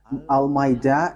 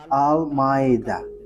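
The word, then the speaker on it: Al-Ma'ida: So, the way you write it, Al-Maida, is as it is pronounced, Al-Maida.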